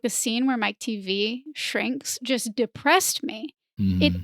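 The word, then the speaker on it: Teavee: the book to realize his last name wasn't just like a joke Mike TV like TV it's spelled out it's spelled out yeah t e a v e e it is a joke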